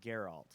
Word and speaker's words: Geralt: it I wanna see in the game it's pronounced Geralt oh I'm sorry with your fans sorry I